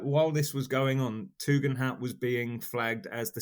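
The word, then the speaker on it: Tugendhat: him the service of saying it how I know it's supposed to be said which is tugan hat but if I say how it's spelled it's funnier because it's tugend hat tug and that tug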